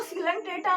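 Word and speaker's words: Coelenterata: तो देखो यहां पर देखो सिलेंट्रेटा में यहां पर ओ साइलेंट रहता है और टेनोफेरा में यहां पर सी साइलेंट रहता है। ठीक है? तो इसको क्या पढ़ते हैं? यहां पर ओ साइलेंट रहता है। तो सिलेंट्रेटा एंड यहां पर सी साइलेंट रहता है। तो ये टेनोफेरा होता है।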